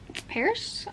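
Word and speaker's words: Pearse: it is a figure skating romance so can't wait for that and then I got this sanatorium by Sarah Paris that's how you say it this is another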